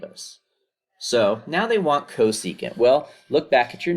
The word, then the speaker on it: cosecant: all right so this one is csc that's pronounced cosecant of theta now the theta represents your reference